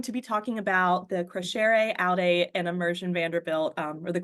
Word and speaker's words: Crescere Aude: So Crescere Aude, so we have to kind of go back to our Latin roots here. Crescere Aude is Latin, and it is something